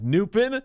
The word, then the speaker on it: Noopin: Noopin. It rhymes with poopin.